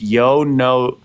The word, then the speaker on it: Yono: for that no shade no one gets it right it's Yono Yono Yono Yono yoa